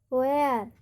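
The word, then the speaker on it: where: यहाँ पर देख लीजिए WHAT, यहाँ पर WH की तुरंत बाद क्या आ रहा है, A आ रहा है। वेयर में WHE आ रहा है, और विच में WHI आ रहा है, तो यहाँ पर H साइलेंट होगा।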